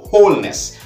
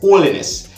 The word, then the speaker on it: Holness: It is Mr. Andrew Holness, not Holiness.